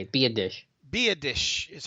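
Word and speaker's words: Biadasz: my civic duty to let you know Tyler be a dish. Be a dish. That's how you say it. Be a dish.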